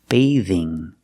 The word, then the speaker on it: bathing: wearing a bathing suit pronunciation for bathing use the long a like day and pay day the th makes a voiced sound like in this and that bathe bathing a bathing suit she's